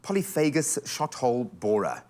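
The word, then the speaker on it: polyphagous shot-hole borer: But what is this troublesome polyphagus shot-hole borer? Am I saying it right? Yeah, it's perfect pronunciation there.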